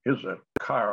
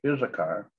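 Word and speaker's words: Issachar: the third son of isakar or is a char uh is a car i think is the proper pronunciation that's one of jacob's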